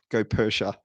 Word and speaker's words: Goeppertia: R T I A and pronounced Gop Persia. Go figure.